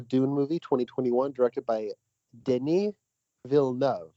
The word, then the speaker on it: Denis Villeneuve: movie 2021 directed by denis villeneuve all right did we get that everybody it's two syllables for each name all right okay cool